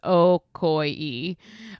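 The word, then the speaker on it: Ocoee: They gave me the pronounce Okoy.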